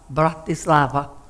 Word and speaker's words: Bratislava: how you pronounce it it's very easy okay in three syllables a bad child breath this is in love mountain love bratislava okay you all remember